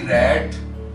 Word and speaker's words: rate: RAT रैट, RATE रेट, जबकि E उसमें भी साइलेंट है।